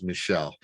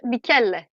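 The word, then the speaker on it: Michele: i i see it my american mind says michelle uh okay that'll work yeah well it's the same name so it's mickele okay michaela uh visions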